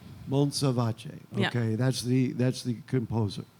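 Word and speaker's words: Montsalvatge: I'm gonna we'll set up the microphone again, but I'm gonna try to how do you pronounce his name? Monsalvace. Monsalvace.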